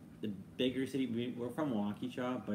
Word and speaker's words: Waukesha: You say Waukesha? Yeah. Why do you just say it like that? Waukesha, sorry. It's like a suburb of Milwaukee. It's like you forgot. Waukesha. A lot of people say it Waukesha.